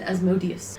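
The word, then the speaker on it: Asmodeus: other ones yes other always pronounced it as modius there is a contentious thing on that name pronunciation and no one's sure not even wizard Coast oh yeah I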